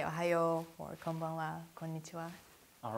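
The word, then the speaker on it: こんばんは: Konbanwa. Konbanwa.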